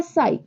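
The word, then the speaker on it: ψ: फा ठीक है और जो ये वाला सिंबल है उसको हम कहते हैं साई ठीक है साई की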